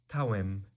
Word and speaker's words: tawem: Always is tawem. Notice it's spelled with a D, but it becomes a ta sound in modern Aramaic.